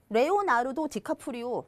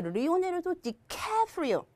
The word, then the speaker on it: Leonardo DiCaprio: 레오나르도 디카프리오 발음하셔도 돼요. 근데 조금 그 주변에 계신 분들하고 차이를 두고 싶으면 리오나르도 디카프리오 하면서 케 하실 때 도레미파솔까지 올려주시면 돼요. 그래서 리오네르도 디카프리오. 자, 레오나르도 다빈치 있죠?